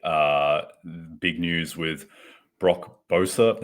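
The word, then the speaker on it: Boeser: big news with Brock Bosa never actually had to say his last name out loud um but I believe that is how it's pronounced um he is out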